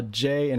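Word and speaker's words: じ: Imagine pronouncing a j in a sh type of way.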